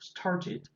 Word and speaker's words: started: Entonces esa ED se pronuncia como la ID. Started, diría un británico. Started. Pero digamos que un británico, un americano, como el acento que nosotros tenemos, como nos queda una T en medio de dos vocales, entonces se pronuncia started.